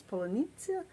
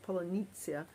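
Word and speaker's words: полуниця: is it strawberries because strawberry is in ukrainian it's polynesia but in russian it's klubnica but russians cannot pronounce that polynesia and i'm not even sure i'm pronouncing it correctly so they've kind of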